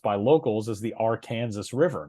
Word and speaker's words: Arkansas River: That river is pronounced by locals as the Arkansas River, not the Arkansas River.